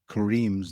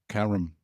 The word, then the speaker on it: Kareem: Okay, you should you should you should pronounce Kareem's name correctly as well. Go on. Kareem. Kareem. Yeah. What did I say? Kum.